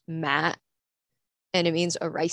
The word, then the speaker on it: ma: right the first one has no accent so it's pronounced ma and that means funeral the second one has the